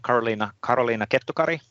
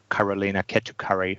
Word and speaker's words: Karoliina Kettukari: That's a Finnish way of pronouncing that. You can do Karoliina Kettukari even in English. How would you pronounce it, Karoliina's name? Kettukari? Kettukari, yes. You need to be strict on those vocals.